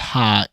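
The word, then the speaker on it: ห้า: The number five is pronounced ha in Thai.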